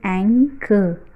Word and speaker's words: anchor: So correct pronunciation is anger.